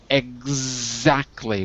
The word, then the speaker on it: exactly: and the last word exactly with a z like zebra that's it exactly so you have to imagine it's spelled e k z ek exactly with a k and a z very good that's it